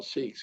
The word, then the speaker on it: Sikh: But the truth is that the word is pronounced Sikh, and but we are Sikhs.